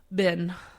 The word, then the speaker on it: been: How do you pronounce B-E-E-N? Bin.